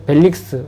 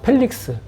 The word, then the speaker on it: 펠릭스: 직분을 가지고 있는 사람이 벨릭스 우리 한글 성경에는 벨릭스라고 나오고 일본어 성경은 좀 발음에 가깝게 원어 발음을 펠릭스 펠릭스라고 하는 그 총독에게로